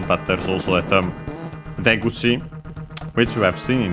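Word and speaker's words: 出口: And that one is, by the way, accent on the first syllable, so be careful.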